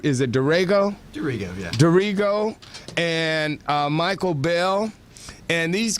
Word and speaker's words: Darrigo: today we have with us Paul in private pronounce there is a durango dorrigo yeah dorrigo and michael bell and these guys are like